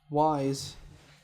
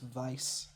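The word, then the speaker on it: Weisz: I don't know if they're still together, but supposedly Rachel Wise Actually, her last name is pronounced Vice.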